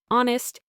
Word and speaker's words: honest: Honest. You only hear honest.